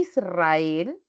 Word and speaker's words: Israel: tiene la rayita entonces si yo digo aroma y Israel se escriben las dos con la r pero la pronunciación es diferente entonces cuando yo transcribo Israel le tengo que poner a esta r una rayita en la parte superior porque es vibrante en cambio Si digo